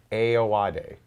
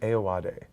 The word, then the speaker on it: Ayoade: Ayoade. Richard Ayoade.